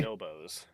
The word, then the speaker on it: Bonobos: Today we've got the boosted Bonobos. I believe that is a pronunciation. Could be Bonobos, but I'm actually going to Google. I already Googled it. It is Okay. Bonobos. Bonobo, because it's a monkey.